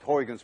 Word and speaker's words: Huygens: least you call it huygens principle but we don't call it horrigan's principle you see this sound uy is pronounced in dutch as ou none of you can